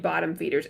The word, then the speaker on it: BTTMFDRS: But I think if you liked this and you're looking for something similar, maybe a little less body horror, go read Bottom Feeders. It's spelled BTTMFDRS.